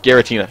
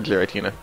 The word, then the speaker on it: Giratina: Giratina. Not Giratina. Giratina.